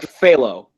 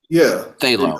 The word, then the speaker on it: phthalo: i got to go the P and the H is silent it's like phthalo phthalo okay phthalo okay just